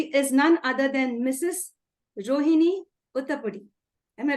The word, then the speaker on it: Rohini Udapudi: Rohini Udapudi. Am I right, ma'am? Did I pronounce that correctly? Yes, Rohini Udapudi.